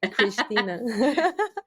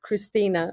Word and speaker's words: Christina: Christina. How do you pronounce it? How do you pronounce it? More like Christina, but I like the Portuguese.